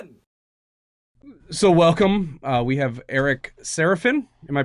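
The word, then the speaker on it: Eric Sarafin: We have Eric Seraphin. Am I pronouncing that correctly?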